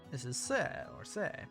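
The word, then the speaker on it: セ: せ This is se or se. Pronounce it as se, like in the word set.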